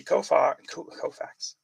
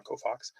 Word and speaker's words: Koufax: Hank Aaron, Sandy Koufax. I said it wrong. Koufax.